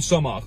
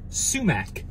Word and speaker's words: sumac: a little dry this needs some Soma or some of you pronounce it sumac oh there we go